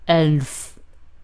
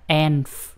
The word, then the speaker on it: elf: Nó không phải là enf. Không phải là enf. Để phát âm được cái âm L này á, thì mình để đầu lưỡi chạm hàm trên thì nó sẽ ra âm L, L, Elf, Elf.